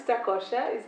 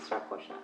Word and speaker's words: Strakosha: currently at LAZIO, Thomas Strakosha. Is that right? I never knew how to pronounce your name. It's not easy, no, it's not easy. So, did I say it right? Yeah, perfect. Strakosha.